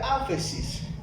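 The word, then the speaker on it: ἄφεσις: La palabra perdonar en este texto, en el idioma original, significa o se pronuncia áfesis.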